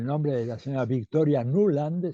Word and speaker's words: Nuland: de la señora Victoria nuland se escribe nula n d nublando así como suena van a verla ella